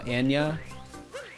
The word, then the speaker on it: Anya: Her name is Anna Taylor-Joy. No, Anya. How do I say that though? To say Anya? Anna. Anya. Are you sure I say it like Anya? That doesn't sound right to me. Yes. So every time I say her name, you just want me to really emphasize the nya.